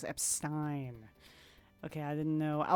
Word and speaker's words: Epstein: Luckily the British English uh luckily in British English the pronunciation is different. Epstein instead of Epstein. Okay. So it's Epstein.